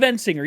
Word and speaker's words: Endsinger: Throughout all of Endsinger. You know what? That's the correct way to say it.